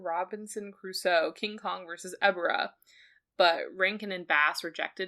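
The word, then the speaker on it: Ebirah: Who was intended to fight Ghibra in Ghibra Horror of the Deep, the 1966 movie? Ghibra? How do you pronounce it? There's no G. It's Ebera.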